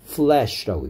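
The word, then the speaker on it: flesh: 그러니까 을 발음을 내느냐, or 발음을 내느냐, fresh라고 발음하느냐, flash라고 발음하느냐에 따라서 신선한이란 뜻이 될 수도 있고요. 살점이란 뜻이 될 수도 있으니까 or 발음과 을 발음을 구분해서 fresh라고 해야 되겠죠.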